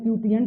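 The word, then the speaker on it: quotient: बराबर होगा divisor into, इसको कहते हैं क्यूटिएंट भी पढ़ते हैं, कोसेंट भी पढ़ते हैं इसको। मैंने इसके 2 प्रोनाउंसिएशन सुने हैं बचपन से, इसको क्यूटिएंट भी पढ़ते हैं और कोसेंट भी बोलते हैं कोई कोई, प्लस रिमाइंडर।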